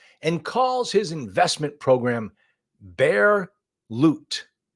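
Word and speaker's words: Bear Lute: He guarantees returns, outright rejects SEC regulations, and calls his investment program Bear Loot. Like loot, like L-O-O-T, but it's spelled L-U-T-E.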